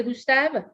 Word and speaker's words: Gustave: Y entonces, en el caso de Gustave, pues no hay que pronunciar la E final, ¿no? Son mudas.